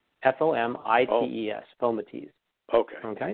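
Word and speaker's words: fomites: cartoons and people they say but it's actually pronounced foam at ease fom IES film at ease poker okay now now that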